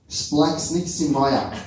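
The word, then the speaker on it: σπλαγχνίζομαι: The Greek word for compassion is, it's very hard to pronounce, Splaxniximaya. That's what Google tells us.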